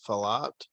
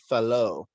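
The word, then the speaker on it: Fallot: is the tetralogy of falat hold on a sec i'm gonna look that one up okay i was mispronouncing that it's a french name so tetralogy of fellow but anyway um the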